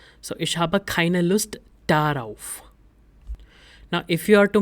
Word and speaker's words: darauf: Now whenever a preposition starts with a vowel, we add extra r in between to make the pronunciation better. So ich habe keine Lust darauf.